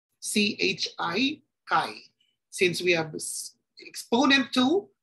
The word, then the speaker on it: chi: Sky Square this symbol this letter looks like letter X is actually chi in the Greek alphabet and that is pronounced as Kai Chi Kai since we have exponent